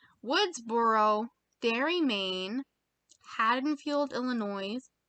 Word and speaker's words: Illinois: Woodsboro, Derry, Maine, Haddonfield, Illinois. Did I just pronounce the S on Illinois?